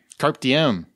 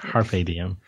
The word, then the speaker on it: carpe diem: Carpe diem. Yeah, wow. That's not how you pronounce it. Carpe diem.